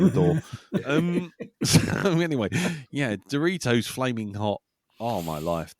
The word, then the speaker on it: Doritos: I think you mean Doritos. Sorry, what was that? I think it's pronounced Doritos. Doritos. Wow, I'm not that pretentious, Jim. Steady on. I know where the O goes. Doritos. It's Mexican or Spanish.